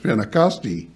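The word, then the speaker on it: Πεντηκοστή: end of it and in Greek it's uh pronounced spinnacostia and uh so I that word doesn't appear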